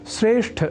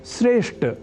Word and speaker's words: श्रेष्ठ: में बताया है कि श्रेष्ठ शब्द का उच्चारण व लेखन हम में से कई श्रेष्ठ इस अशुद्ध रूप में कर जाते हैं वस्तुतः यहां अर्थात श्रेष्ठ शब्द में ठ इस महाप्राण अक्षर का उच्चारण व लेखन लोग ट इस अल्पप्राण स्वरूप वाले अक्षर से परिवर्तित कर दिया करते हैं इस अशुद्धि के कारण